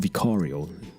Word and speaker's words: Vicario: And you're listening to Vicario on the Vicario Show, or Vicario. The Brits pronounce it slightly differently. Vicario. It's actually sounds fancier and more upper class.